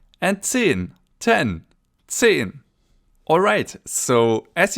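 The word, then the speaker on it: zehn: 10. So Z is pronounced TS in German, ts. And the EH is pronounced E.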